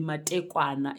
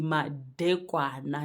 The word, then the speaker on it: madekwana: I know a lot of people struggle to pronounce this one because a lot of people say ndi matekwana. It's not ndi matekwana. It's ndi madekwana.